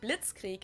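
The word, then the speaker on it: Blitzkrieg: used way before that we pronounce it Blitz Creek in German and it literally translates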